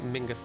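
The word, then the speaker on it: Menzies: Same with like Mingus Campbell. It's like that Z is like a Mingus Campbell.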